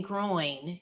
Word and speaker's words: groin: So as a Michigander, I'm saying groin. You're saying grow in. Yeah. Am I saying it wrong? Yeah, there's no G on the end.